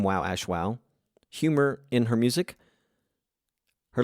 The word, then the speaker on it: Wowashwow: Is it Wowashwow? Yeah, you said it perfectly.